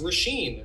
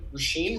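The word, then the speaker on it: Róisín: to say it whoa got it no guts rasheen rasheen murphy i love jacuzzi roller coaster this song's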